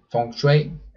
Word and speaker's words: feng shui: packato se utiliza mucho por ejemplo en el feng shui funksway como lo quieran pronunciar que es cómo se configuran o cómo